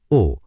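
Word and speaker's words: を: লিখতে হয় ও। কিন্তু উচ্চারণ হয় ও।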